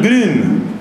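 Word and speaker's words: Grün: el agua con 16 la alemana con diéresis que se pronuncia como la vid francesa entonces es ángel green bueno este señor escribe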